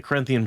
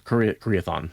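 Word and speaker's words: Karaethon: You think, there's nothing in the Corinthian prophecy Koreathon about cleansing the source. Koreathon, sorry. It's not Corinthian. Corinthian is how I always pronounced it when I was reading the books back in the day.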